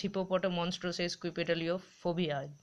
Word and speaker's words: Hippopotomonstrosesquippedaliophobia: স্ক্রিনে দেখতে পাচ্ছ একটা বড় ওয়ার্ড, এটা হলো হিপোপটোমনস্ট্রিও সেস্কুইপেডালিওফোবিয়া, ঠিক আছে।